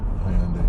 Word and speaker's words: Hyundai: How do you pronounce it? Hyundai, you said it right.